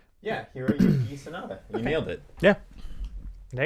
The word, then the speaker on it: Hiroyuki Sanada: I apologize if I offend anybody with this pronunciation. Hiroyuki Sanada. Canceled. Yeah. Canceled. Right? I mean, that's pretty good, right? Yeah, Hiroyuki Sanada.